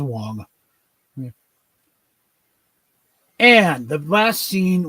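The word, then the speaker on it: Wang: It's just pronounced Wong.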